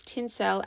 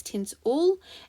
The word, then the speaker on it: tinsel: is making the e sound or sometimes people pronounce tin cell as tins ool and they actually confuse the oo sound with